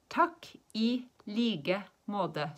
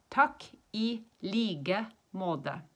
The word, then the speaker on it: takk i like måte: And when we say likewise, we don't say the K. We say it like a G. And when you say måte, we don't say the T. We say more of a D. So it's takk I like måte.